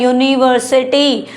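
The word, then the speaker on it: university: यूनिवर्सिटी यू से start है। Vowel से स्टार्ट है। लेकिन यह प्रोनाउंस क्या किया जा रहा है? यूनिवर्सिटी यू की साउंड आ रही है। यू की साउंड आ रही है। यू की साउंड कोसोनेंट होती है ना कि वोवेल साउंड होती है।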